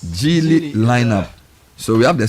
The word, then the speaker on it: Geely: All right, elevate your driving experience with the all new, is this pronounced Geely? Yes. Geely lineup.